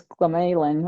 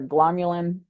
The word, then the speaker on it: glomalin: One of them is glomalin or glomulin. It depends how you want to pronounce it.